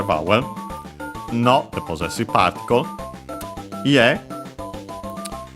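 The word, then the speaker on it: 家: Ie, which means house. Accent on the last syllable.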